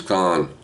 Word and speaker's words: Caan: not not many James Caan calling because I know he's pronounce his name CAA and calling the program